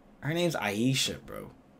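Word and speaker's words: Ayesha: like how flight just casually just mispronounce people's names but like I know he knows her name's Aisha bro but he says Asia and her name literally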